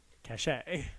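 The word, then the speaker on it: Kashé: So his name is Cash, spelled with a K, and an accent aigu at the end, if any of you are French connoisseurs like I am. Cachet. Cachet, if you will.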